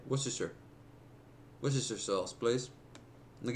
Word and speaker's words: Worcestershire: the Lee and perrins I'm gonna go ahead and say it worse desire sauce pronounce that sauce it's gonna call them out on it but they beat me to it worse chassar Worcestershire W sauce Worcestershire you know what the